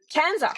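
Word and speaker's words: CANZUK: Was it Kanzac? Can how do you say it? Kzak. Kanzuk.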